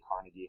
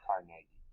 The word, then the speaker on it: Carnegie: carnegie here i know today we say carnegie hall but the scottish pronunciation is carnegie but gentlemen like him